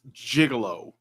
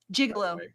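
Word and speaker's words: gigolo: It's pronounced jigalo. Jigalo. Jigalo. I like I know it looks like gigalo, but it's jigalo.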